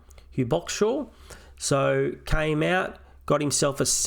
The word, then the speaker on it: Hugh Boxshall: Hugh Boxshall. That's how you say his name. Hugh Boxshall.